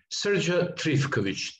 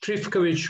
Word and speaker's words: Trifkovic: Yes, Srdja Trifkovic. Trifkovic with the accent on the first syllable.